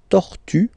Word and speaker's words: tortue: T-O-R, tor, tor, final E, remember, you don't pronounce it, tortue, tortue, and then de mer, une tortue de mer, une tortue de mer, okay?